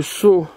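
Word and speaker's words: Saulx: Vous voyez, rue de Sceaux. Ça s'écrit S-A-U-L-X.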